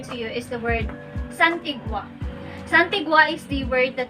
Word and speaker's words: santigua: Or the third word that I want to share to you is the word santigua.